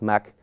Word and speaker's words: Mach: It was presented at the Academy of Sciences in Vienna in 1887 by the Austrian physicist Ernst Mach. That's how you pronounce his name, actually.